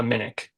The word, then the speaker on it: Minik: so it's and your last name is pronounced how uh Minik m i n i yep and did you